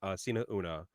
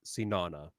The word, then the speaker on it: Sina Una: guide actually in fact the title itself was supposed to be one word and pronounced the same so so promotes peace still propose we pronounced Sina una but without the space but the problem is we know that if a Western audience saw Sina uno just has one word they are pronounced it as seen Anna we're seen now now yeah